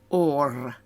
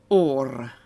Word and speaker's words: orr: actually means both ears your nose is or it's a double r and unlike in English you actually have to pronounce it or and your mouth is